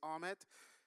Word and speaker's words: Ahmed: My name is Ahmed. You know, when people pronounce my name, and I say this all the time, it's arm and head. So arm, Ed.